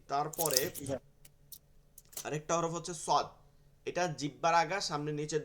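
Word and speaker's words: صاد: এরপরে শিন হচ্ছে একদমই বিপরীত ঠিক আছে শিন সদটা হচ্ছে সিনের মাখরাজ কিন্তু শিন যেটা আছে তিন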